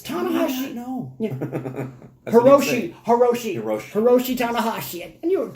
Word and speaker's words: Hiroshi: Is it Hiroki? Yeah, Hiroki Tanahashi. Hiroku. It's either Hiroki. Hiroku Tanahashi. Apologies if we butchered that.